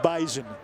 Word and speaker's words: Bison: And by the way, for those asking, it is pronounced bison. There is a invisible yet very audible Z.